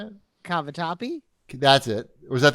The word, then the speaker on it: cavatappi: on that one tonight right i made the cavitelli cavitelli is that how you say it cavatappi that's it or is that the animal one